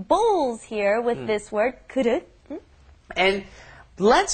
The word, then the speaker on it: 그릇: And let's say 그릇 is very difficult to pronounce. Right. 그릇. Okay, you've got that vowel that's very difficult to pronounce in English. 그릇 for those of us who speak other languages.